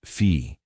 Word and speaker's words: phi: In Strum's model, consciousness is described as a field, the Greek letter phi, written as a symbol, pronounced fee, that exists before the Big Bang in an undifferentiated, timeless state.